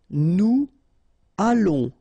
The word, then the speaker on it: allons: Nous allons, remember, final S not pronounced. O and together, it's on. And then we'll make this little link between the two, what we call the liaison.